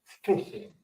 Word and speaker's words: phishing: It's like going out and real fishing, except it's spelled PHSING, fishing.